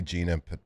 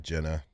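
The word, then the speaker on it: Jena: But it is that like I've never seen like Okay, I can see Gina possibly instead of Jenna because it's not double ends.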